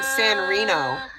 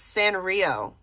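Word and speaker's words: Sanrio: She keeps saying San Reno. It's San Rio.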